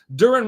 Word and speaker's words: Durin: Durin rhymes with urine.